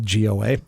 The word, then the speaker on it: Goa: John distillery in is it how do you pronounce the name in India Goa well same simple Goa figure that out I am four bottles into